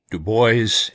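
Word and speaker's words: Du Bois: Web Dubo and yes I am pronouncing that right.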